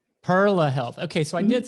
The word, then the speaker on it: Perla Health: Could you please pronounce it again for us? I call it Perla Health. Perla Health.